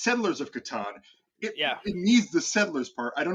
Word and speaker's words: Catan: There's I know you asked people whether or not you pronounce it Catan or I can't even say it the other way. That's right. It's Catan.